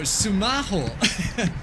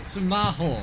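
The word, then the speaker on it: スマホ: you could scan so sumaho L it's how you say it sumaho it sounds very similar so you'll find when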